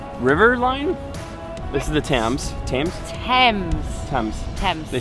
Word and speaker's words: Thames: seen an amazing river line this is the Thames James 10 they spell it very odd like this I've seen a